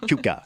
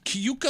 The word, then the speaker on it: Cayuga: Cuca. Cayuga Like a Lake.